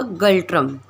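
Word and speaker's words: ngultrum: एंड the next is a Bhutan, Bhutan's capital is a Thimphu, and the important city Thimphu पैरो, एंड the currency गल्ट्रम, इसमें N silent होगा, गल्ट्रम।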